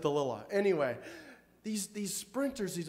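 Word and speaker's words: Dalilah: delilah i was delilah she pronounces it delilah anyway these these sprinters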